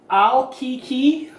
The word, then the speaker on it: ALLCACA: new headset um headphone headset this is from Al Kiki it's actually spelled al l CA CA but it is pronounced al Kiki this is supposed to be